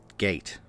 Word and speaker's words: gait: video sorry about that gate okay the british pronunciation is gate all of a sudden